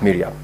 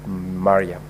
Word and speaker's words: Mariam: I noted in your contributions you made reference to the distinguished Senator Omar Sheikh Mariam as Miriam. I'm very sure that is because of where you come from. Otherwise, the name is pronounced as Mariam.